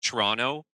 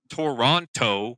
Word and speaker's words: Toronto: Like Toronto, it's spelled Toronto, but we say Toronto. Or if you're from there, it's like Toronto.